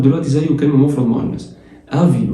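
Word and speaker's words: avis: آفي والاس ما بتتنطقش، آخر حرف في أي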